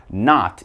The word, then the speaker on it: knot: have not okay now this isn't like I am not going home no with a K not is kind of like